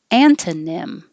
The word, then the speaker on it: antonym: but uh feminist feminist antonym antonym and the vowel is ah and this is here